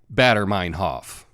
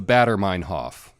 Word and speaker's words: Baader-Meinhof: want a batterer Hoff okay now put a mining hat on the batter Hoff and what do we have we have a batter Meinhof and who cares about the correct pronunciation right we're speaking English here and if we get a German word a little bit wrong that's okay just remember it's the batter Meinhof and the batter Meinhof phenomenon is when you learn